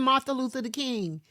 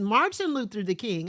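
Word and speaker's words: Martin Luther King: who is this woman who is this woman Martha Luther the King my mother was like his name is Martin it is Martin Luther the King I was like but then the adults need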